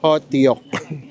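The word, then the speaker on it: hotteok: Ang pronunciation daw ay hotyok.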